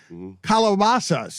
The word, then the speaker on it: calabazas: This is the second time that this story has been pulled out, and calabazas is how it's pronounced. You've been pronouncing it wrong all your life when you Americanize it.